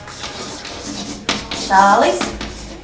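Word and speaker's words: cālis: Цалис. Цыпленок, и здесь у нас длинное цалис. Цалис. И короткое И.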